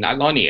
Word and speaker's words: Nyloni: name you gave me, Nyloni, it's stuck. What does it even mean? And I think her answer was that it rhymes with cyclone, which it doesn't.